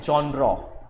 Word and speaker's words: genre: तो एक्चुअली इस वर्ड को हम बोलते हैं जॉनरा। The word is जॉनरा, ज सा वाला साउंड है, जॉनरा।